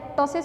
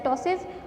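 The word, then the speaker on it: ptosis: टॉसिस के अंदर पी जो है वो साइलेंट होता है बेटा, और लैक्रिमेशन है, पेन है और नेजल डिस्चार्ज है।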